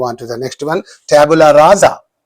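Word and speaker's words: tabula rasa: Tabula raza. Tabula raza za not raza sa but raza za.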